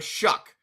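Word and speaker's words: Shough: Gator this is the easiest way for you to remember how to pronounce Tyler Shuck because every time he does good against your Bucks, YOU YELL AND IT RHYMES.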